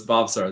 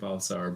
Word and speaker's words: Bhavsar: So it's Bhavsar. The H is silent. So Bhavsar.